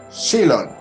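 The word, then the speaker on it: ξύλον: Palabra cruz en el griego es silon, se escribe X-O-L-O-N, silon.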